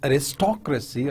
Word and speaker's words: aristocracy: For example, when you talk about aristocracy or democracy, so you see the stress on the second level, on the second syllable, right?